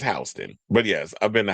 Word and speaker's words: Houston: I hope you wasn't pronouncing it Houston. It's Hston.